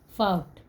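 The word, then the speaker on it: fought: फाउट, फाउट में भी GH silent है।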